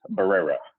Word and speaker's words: Barrera: My last name is Barrera. Barrera. Barrera. It's all that Yeah, I got to get those Rs going.